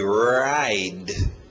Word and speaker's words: ride: Forte no R, ride. Ride. Ride.